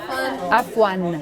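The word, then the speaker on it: عفواً: There's an ending on it that's missing. Af. عفوا. Uh-huh. Afwan.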